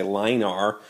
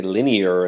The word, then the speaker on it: linear: Now, the English language is such that I have to change the way I pronounce that, so I don't say line R. I say linear, and it sounds very fancy and all that.